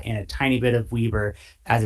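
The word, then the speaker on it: Weber: Salt Lake Utah and a tiny bit of Weieber as it's properly pronounced southeast of Huntsville.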